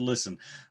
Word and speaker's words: listen: Adam is the only person in the world who pronounces the T in the word listen. Raw Data, $999.